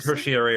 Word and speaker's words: tertiary: Tertiary and tertiary are both valid pronunciations of the word.